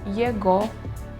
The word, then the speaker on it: его: The letter G in ого and его is pronounced as V.